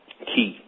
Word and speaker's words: Chi: So today, what I really want to talk about is I want to talk about Ki, which we term as the word Chi, but the CH pronounces as a K.